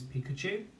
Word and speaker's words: Pikachu: Now don't get tricked, because there is a CH spelling in this word, which this time is not a k sound spelling.